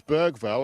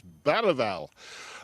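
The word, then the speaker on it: Bergvall: man we call Lucas Bergville. And I'm very reliably told by local journalists that if you're going to pronounce it in the Swedish way, you pronounce it Lucas Bal.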